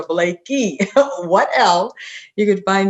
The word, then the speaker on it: Blakey: spell it but s-o-n-y-a everybody wants to call me sandra or blake lee but it's sonia blakey what else you can